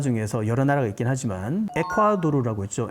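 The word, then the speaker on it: Ecuador: 여러 나라가 있긴 하지만 에콰도르라고 했죠 에콰도르 에코돌 발음은 에코돌이라고 하는데 에콰도르가 바로 적도의 면에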